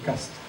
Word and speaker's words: Castries: Ici, c'est le duc de Castres, ou Castries, et qu'on prononce Castres, qui possédait ces lieux.